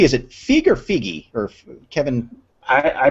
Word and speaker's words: Feige: Sorry, T, is it Feig or Feige or Kevin? I pronounce it Feige.